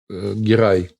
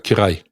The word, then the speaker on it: Герай: Потому что Герай – это со звонченым «г». Это, скажем так, агузское произношение, а на кыпчакский манер это будет звучать как «кирай».